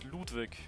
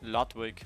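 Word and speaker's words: Ludwig: your real name Lou my real first name is Ludwick or lwig how the English speakers pronounce it it's a German name f funny thing is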